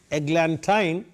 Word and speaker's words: eglantine: Now I tell you, I said eglantine because it rhymes with wine.